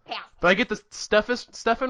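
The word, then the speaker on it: Stephan: Is that how you pronounce his name? I always forget. Pastis. Oh, Pastis. Yeah. Did I get the Stefan right?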